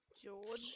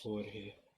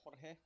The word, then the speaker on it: Jorge: I mean, the only one I can guarantee is gonna be there is George, but George. Jorge. George. It's actually Yeah. pronounced Jorge.